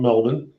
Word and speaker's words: Melbourne: Not Melbourne. No. Melbourne. Don't be silly. Don't be silly, dude. There's an R in Melbourne.